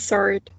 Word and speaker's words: sword: The N is not pronounced. Okay. What about this one? It's sword, actually.